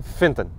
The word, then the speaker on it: Phaeton: Eu li há bocadinho, acho que é assim que se pronuncia, porque ele é escrito P-H-A-E, mas lê-se com o E com acento circunflexo, ou seja, como se fosse Volkswagen Phaeton.